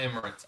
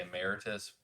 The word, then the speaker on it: Emirates: Emirates. Yeah. Fly Emirates. I cannot say this word. I want to say emeritus, whatever. Emirates. So Fly Emirates.